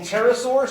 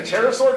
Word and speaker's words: pterosaur: eyelids finally speaking of pterosaur tracks we actually have a pterodactyloid landing track and the appropriate way of course to spell pterosaur tracks is what they p but the p is silent that's a gym um